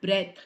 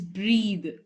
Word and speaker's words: breathe: vanishes it is button button breathe it's not breath it's not breath it has an e at the end so the closing sound will be the the correct way to say it is breathe breathe the next word is because because nah